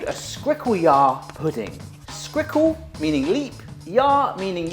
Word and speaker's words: skrikkeljaar poeding: Well folks, that is an African dish called a Skrikkeljaar pudding.